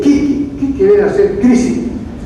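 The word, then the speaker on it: 危機: En el Japón, cuando dicen crisis, se escribe con 2 kanji o ideogramas y se lee kiki.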